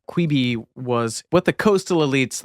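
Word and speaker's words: Quibi: tell us about quby quby quey is how you say que yeah you may remember or perhaps blissfully not quey was what the coastal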